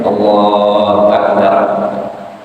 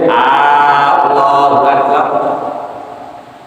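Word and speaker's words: الله أكبر: Aturan takbiratul ihram adalah satu, memakai lam jalalah, dan lamnya jala itu diucapkan panjang. Jadi Allahu Akbar, nggak boleh Allahu Akbar.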